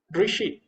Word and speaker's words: ऋषि: ढ री कृष्णा कृष्णा असली शुद्ध उच्चारण य ऋषि शुद्ध उच्चारण य होगा ऋषि नहीं होगा ही ऋषि